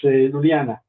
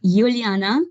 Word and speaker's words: Iuliana: It's Luliana, right? It's Iuliana, but it's almost there.